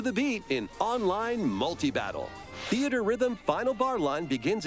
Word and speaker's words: Theatrhythm: Fantasy series with the latest theater rhythm game. Oh, it's pronounced Theater Rhythm.